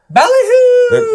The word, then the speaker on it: BallyHoo: I have to say you can't just say baloo, right? You got to say baloo. There's got to be a little bit of empasis on the right syllables.